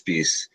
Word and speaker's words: Speiss: yeah or how so how do you say your last name I feel like I butchered good depends on uh what time tonight we're talking about yeah it's peace well you're right like